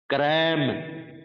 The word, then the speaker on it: cram: क्रैम, रटना जिसका अर्थ होता है CRAM, क्रैम। ध्यान से बच्चों, मैंने ये कहा है केवल यही एक स्थिति होती है जब हम र को र बोलते हैं अंग्रेजी में,